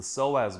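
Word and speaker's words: psoas: one culprit is the soaz muscle and you spell that PS o a silent P silent P just like p and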